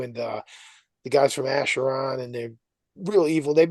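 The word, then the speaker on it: Acheron: Asheron.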